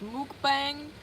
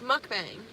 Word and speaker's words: mukbang: we need to clarify if it's pronounced Mook bang or mukbang I think it's like an accent if you're an american youtuber it's mukbang if you're I think when